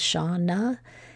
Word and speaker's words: Shawna: it's been a schwa this off this often often happens in the names of women my name is Shauna and my name ends in a but I'm being schwad